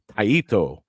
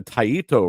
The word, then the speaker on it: Taito: go the sorry Jason I'm gonna try to say it like you told me to say it taito if they go to taito Route oh Lord with